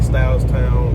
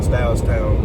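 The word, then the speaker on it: Stahlstown: We out here in Styles Town, PA. It's kind of a weird a weird way to spell it. It's basically spelled S T A H L S T O W N. So Styles Town P A.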